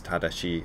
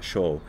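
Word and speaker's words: 正: characters that's used is is pronounced in japanese tadashi or sho and it means right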